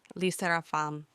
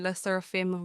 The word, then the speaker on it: LE SSERAFIM: Initially, I find hard to pronounce because I thought it's supposed to be French like Les Seraphim. But now hearing it saying Les Seraphim regularly is kind of cute and unique.